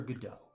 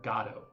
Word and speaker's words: Godot: by Samuel Beckett called Waiting for Godot, or Godot, depending upon how you pronounce it, and an essay, The Myth of Sisyphus, by Albert Camus.